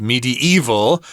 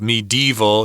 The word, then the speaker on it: medieval: Ages this word can be pronounced medieval by sneaking another syllable in there but no one does it though yeah I've never said it that way myself medieval just three syllables will be enough again it's a Well